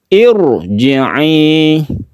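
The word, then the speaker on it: ارجعي: Irji'i. Bibirnya dia mencucukkan irji'i, ditebalkan ro-nya ya, sama dengan kita membaca rabbiki ro, ini tebal.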